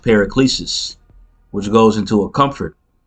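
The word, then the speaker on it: παράκλησις: into comfort in the Greek it would be pronounced periclesis which goes into a comfort you know and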